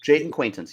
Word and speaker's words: Jaden Quaintance: say his name correct the big man yep Jaden quaintance you got it he left their last game